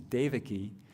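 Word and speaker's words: Devaki: no my name is Davi just it's like give Dave a key you know it's an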